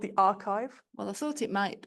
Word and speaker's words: arXiv: I wouldn't know how you pronounce it. What is it, please? So people, it's called the archive.